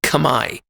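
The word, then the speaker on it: Khmer: there and that's the Kamai people k h m e r it looks like it would be pronounced kamur but they've told me it sounded it sounds like Kamai it's a tonal language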